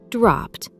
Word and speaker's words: dropped: sh, ch, or F, the ed ending is pronounced as a crisp T. Listen to these words from Ben's story. Walked, rushed, brushed, dropped. Notice how it is not walked or rushed. It is walked, rushed, dropped.